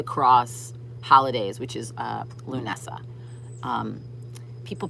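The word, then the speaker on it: Lughnasadh: it in my head it's spelt not like it sounds it's a it has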